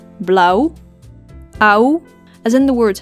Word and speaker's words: blauw: short a a o as in the word blow which means blue in Dutch Blau ow as in the